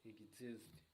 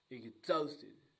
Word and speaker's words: exhausted: Exhausted. The stress is on the second syllable. Exhausted, guys.